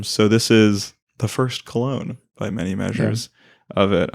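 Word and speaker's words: Köln: And for people who can't tell, Joseph is saying Cologne in the actual German correct way.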